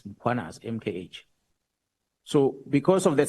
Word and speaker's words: Mkhwanazi: them to pronounce muanaz, they will put an a after m. They'll say muanazi and there's no a is muanas.